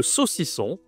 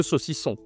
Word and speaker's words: saucisson: OK, le saucisson prononciation toujours le nasal qu'on voit partout, hein. Le saucisson.